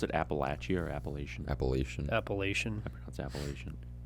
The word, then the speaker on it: Appalachia: Appalachian Appalachian appellation Appalachian I I hate when I hear people pronounce it like Appalachian yeah you guys got them Appalachian westerners I'm from Appalachia it's like you don't have to pronounce every single letter in a word uh that's how westerners